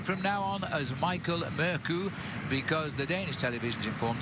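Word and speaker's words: Mørkøv: now on as Michael murku because the Danish televisions informed us they don't pronounce the V on his name which is mercov so from now on it's merku well in fact their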